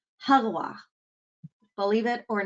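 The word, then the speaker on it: Régua: you want to say ragua or something it's actually pronounced hagwa believe it or not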